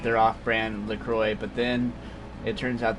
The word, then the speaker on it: LaCroix: It does not sound at all like it's spelled, but the way it's spelled, it sounds like it would be LaCroix or something like that. But it's like that. How do you get the Y sound from the X?